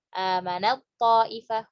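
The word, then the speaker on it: فَآمَنَت طَّائِفَةٌ: Fa'amanat ta'ifah. Nah ini. Amanat ta'ifah wa kafarat ta'ifah, langsung masuk ke to. Taknya nggak disebutkan.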